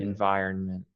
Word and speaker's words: environment: iron yeah iron and there's an n at the end there iron environment environment environment environment that's